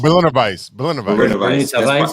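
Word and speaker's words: Berliner Weisse: Berliner not barley wine. Yeah, how you say it? Berliner Weiss. Oh, Berliner Weiss.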